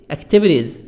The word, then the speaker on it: activities: Activities, activities.